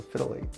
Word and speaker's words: phthalate: It's a phthalate. My wife tells me it's pronounced phthalate.